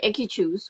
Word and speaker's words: Enkychu: Um, and then yeah, so then it has the Enkichus, which are Enkichus. So it's spelled Enkychu.